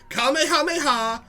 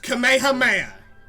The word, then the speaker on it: Kamehameha: sits next to everyone two ways to pronounce that move kamehameha and kamehameha those are the two ways and you picked the worst and you picked you picked the third way that was the wrong one coming your mama yo